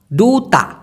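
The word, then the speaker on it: duta: সেই দুতাকে মালয়েশিয়ান ভাষায় বলা হয় ডুটা ডুতা ডুতা কারণ ডি কে ওরা ড উচ্চারণ করে হারাম কে মালয়েশিয়ান ভাষায়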